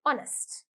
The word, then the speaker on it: honest: honest we don't say honest okay the Hedge is silent so we say honest okay first one honest confident confident bossy bossy